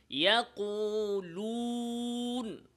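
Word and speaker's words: يقولون: ওয়াও উচ্চারণের সময় ঠোঁটকে খুব স্বাভাবিক রাখতে হবে, চাপ দেওয়া যাবে না।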